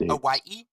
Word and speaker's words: Hawaii: It's pronounced Hawaii. The H is not silent.